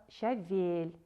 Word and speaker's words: щавель: Произносите правильно слово щавель. Ударение падает на второй слог.